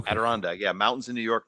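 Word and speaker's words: Adirondack: Aderondag.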